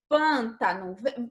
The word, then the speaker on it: pântano: Percebe que quando você fala pântano, você não abre muita boca para pronunciar o pan? Pan. Você abre, mas não abre como em fábula. Então, o timbre, o som que sai da nossa boca é um som mais fechado.